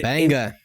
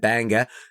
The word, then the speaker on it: Bangor: also that it that which I always pronounce the way that you said it banga is Bangor bang Bangor and I have in fact